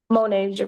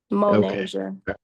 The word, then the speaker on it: Monasia: It's pronounced Monasia. Monasia? Monasia. Monasia.